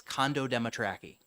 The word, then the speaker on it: Condo Dematraki: So the correct pronunciation is it's correct, just as it sounds as phonetic. It's Condo Dematraki.